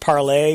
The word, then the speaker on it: Parler: Yeah, this is Rebecca Mercer, and this is one of those deals that literally, Parler came out of nowhere. And I think it's supposed to be pronounced parlay, which is free speech for French.